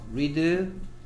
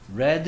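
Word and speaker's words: read: 어떻게 일 거라고 하더라구요 리드 레드 l 레드 라고 읽어야 돼 미드 의 3 담배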